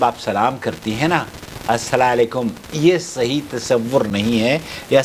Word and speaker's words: السلام علیکم: بتا دی ہے کہ سلام کا طریقہ السلام علیکم، یہ صحیح تلفظ ہے۔ السلام علیکم، یا اس